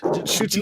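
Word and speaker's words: Ncuti: certain it's pronounced Shuti.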